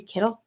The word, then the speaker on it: Keitel: It's Harvey Keitel.